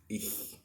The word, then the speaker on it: ich: ممكن نجيب مثلا شاليمو بتاع العصير، نحط تحت لساننا كده، تحت اللسان، واقول ich. هتطلع مظبوطة جدا بالطريقة دي ich.